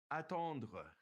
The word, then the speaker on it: attendre: Okay, notice it ends with that RE and it's pronounced kind of glottally. Attendre. It's kind of back in the back of your mouth.